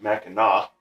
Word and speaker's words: Mackinac: bridge very famous bridge it's not it's actually pronounced mackinac native american word even though that's how it's